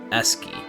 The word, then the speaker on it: ASCII: That's like SC being pronounced as sk, so that like the logic goes both ways. But the fact of the matter is, it is pronounced ASCII.